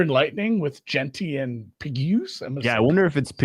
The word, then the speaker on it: Pegues: JJ Pegues? Sure. Pegues, you got it.